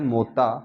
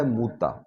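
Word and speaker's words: مؤتة: جنگ موتا۔ جنگ موتا، عام طور پہ لوگ لفظ پڑھتے ہیں موتا، لیکن جو اس کی اصل ادائیگی ہے، جو اس کا تلفظ ہے، وہ ہے موتا۔ یہ جنگ ہوئی تھی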